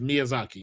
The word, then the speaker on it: Miyazaki: When Elder Ring was coming out, there was an interview with Miyazaki. Oh yeah, that's his name, by the way. That's how you pronounce.